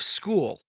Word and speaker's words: Skool: you have heard of School. Who has heard of School? And it is spelled Skool.